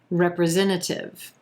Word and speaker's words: representative: each state has two senators number 10 representative representative here we have five syllables and the emphasis is on the third